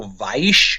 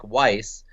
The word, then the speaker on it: Weisz: Yes, I have a Z in my name, and some people go Weisz or Weisz, but there's no T. The Z is silent. We just go with a double S sound like Weisz, and it's Hungarian in origin.